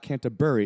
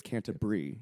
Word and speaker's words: Canterbury: here, the town is Canterbury, right? But we would say Canterbury a lot, and we would kind of get in trouble for it sometimes. It's like, it's not Canterbury, it's Canterbury.